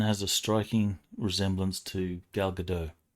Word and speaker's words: Gal Gadot: This woman has a striking resemblance to Gal Gadot, or Dot, whichever way it's pronounced. I think it's Gal Gadot. Yeah, it's not French.